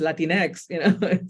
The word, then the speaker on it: Latinx: Latinx? Like, what is that, right? But it's not even the Spanish X, it's just Latinx, So I didn't use it for a while.